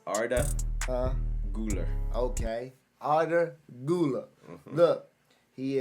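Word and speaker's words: Arda Güler: I'll let y'all get on him can you pronounce that uh it's Arda gular okay otter Gula look he is a Turkish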